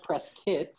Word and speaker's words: Prescott: are because you're in prescott right yeah which is spelled prescott prescott but it's pronounced press kit oh god which i've